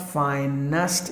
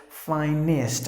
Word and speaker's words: finest: the next word is Phi NIST not fine nest usually we say ah finest no so you have to say this finest all like just imagine